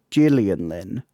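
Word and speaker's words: Gillian Lynne: It's a soft G, so it's the Gillian Lynn.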